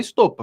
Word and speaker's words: Stoppa: E o Flávio Bolsonaro, quando ele foi pedir para derrubar a minha página, como ele não me conhecia, que todo mundo que conhece fala Stoppa, a pronúncia brasileira.